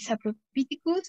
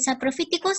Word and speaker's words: saprophyticus: A, de aureus, y el saprophyticus, aquí vamos a ver que casi siempre el sonido de PH en los nombres científicos va a sonar como F.